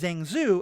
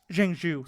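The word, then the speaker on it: Zheng Zu: explaining that Shang Chi's father's real name is zenu I'm probably pronouncing his name very poorly jenu thank you um and he just discover the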